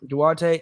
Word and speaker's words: Duarte: watched the uh pacers blazers game was chris duarte in my pronounce his name right yes duarte i like him as well like i mean